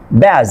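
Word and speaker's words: badge: এর পরে এন বা জি থাকলে ডি লেটারটি সাইলেন্ট থাকবে। এখানে খেয়াল করেন বাজেট, ব্যাজ, ডি এর পরে জি আছে।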